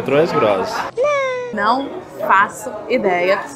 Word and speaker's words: Troisgros: Troisgros. Troisgros. Acho que é Troisgros.